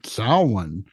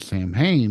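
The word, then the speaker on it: Samhain: and uh you know even if you hearken back to Salan um or if you mispronounced it Sam ha like I have in the past then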